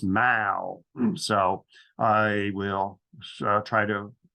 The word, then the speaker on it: Mall: I was in London it's not pronounced Maul as an American would but it's pronounced Mao so I will try